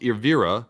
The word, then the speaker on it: Elvira: Elvira, pronounced Irvira.